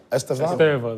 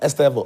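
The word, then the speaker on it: Estêvão: The issue of Estevao, how do you like pronounce Estevao? Estevao. The Brazilians say Estevao. Estevao. Okay, everybody else says Estevao.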